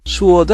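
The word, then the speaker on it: sword: 터프한 5부터 슐 듯 수 워드 아닙니다 w 가 소리 발음 되지 않습니다 소리 내지 않습니다 키울 등 칼 끝이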